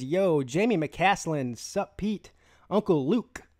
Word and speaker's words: McCaslin: Clemson Carson says, yo, Jamie McCaslin, sup Pete, Uncle Luke. Not to be confused with Uncle Lou. I have to pronounce the hard K there. Otherwise, I sound like I'm saying somebody else's name.